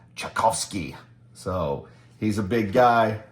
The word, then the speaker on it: Ucczajk: Studio members uh Greg chowski uh or in Polish he says it's pronounced chovsky so he's a big